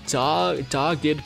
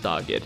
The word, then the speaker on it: dogged: Next up, we have General Blue, Dogged Pursuit. I think that's how the word's pronounced, dogged, not dogged.